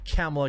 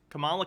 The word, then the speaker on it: Kamala: you got you know you got captain marvel camilla khan you've got to have america's chavez which is going to be in the doctor strange move chavez why why does he mispronounce every character's name kamala khan america chavez movie um and and it's